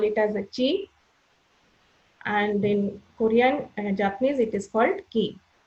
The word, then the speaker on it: Qi: the smooth flow of chi or blood, so which will keep us healthy. So what is this chi? Chi is Qi, which is pronounced as CHI, chi.